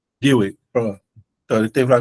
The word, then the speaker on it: Dewey: Dewey, pronuncia Dewey. Dewey, pronto.